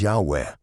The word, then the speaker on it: Yahweh: But most scholars agree that the pronunciation is Yahweh.